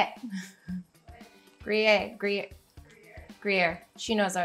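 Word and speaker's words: Gruyère: Gruyere, Gruyere, Gruyere.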